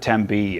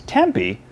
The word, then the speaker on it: Tempe: from a non Phoenician by spelling out the word Tempe and hearing how they pronounce it if it's Tempe they've never been there if it's Tempe they grew up there there you go HTC